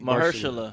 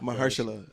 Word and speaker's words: Mahershala: Mahershala. Mahershala.